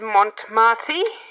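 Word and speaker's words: Mont Marte: out the brand is mont marti i think i pronounced that right because it's like mont and marty so they are a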